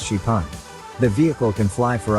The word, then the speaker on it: XPeng: car that can fly the company calls it Spang pronounced chipan the vehicle can fly